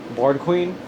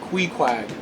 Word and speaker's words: Queequeg: No, her name is Queequeg. Queequeg? Queequeg. With 2 Q's. Board Queen? No, Queequeg.